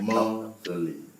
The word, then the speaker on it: motherly: So we have words like motherly, motherly. So the stress is on this first syllable, motherly.